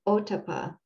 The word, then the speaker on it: ottappa: part of these two very important qualities is otapa this is spelled o t t a p p a